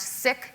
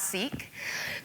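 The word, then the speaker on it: Sikh: And since I'm teaching about inclusion, you should know that sik is spelled s i kh, pronounced sick, not seek, that people come from the LGBT community, that someone uses a wheelchair.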